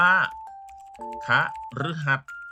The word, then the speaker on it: คฤหัสถ์: ต่อ ไป คำ ว่า คฤหัสถ์ อ่า ค้า ฤหัส ไหม ลูก ตัว รึ จะ ออก เสียง เป็น สระ อึ ตัว นี้ เอา เสียง เป็น ค่า ฤ หัส บดี คัน หั ก็